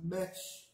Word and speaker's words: mech: And then the E sound and that word is pronounced mech, which means now. Repeat after me, mech. Like the E in mech.